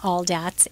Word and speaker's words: Aldatz: okay so t.t and my last name is all dat al da TZ and then you can